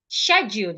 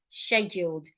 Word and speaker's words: schedule: So this word can be pronounced scheduled. Schedule. It can also be pronounced schedule. Can you hear it? These two pronunciations have the same initial sound, but by the time you get to the du, the sound differs. Schedule, schedule. Without the D, and I'm pronouncing it without the D.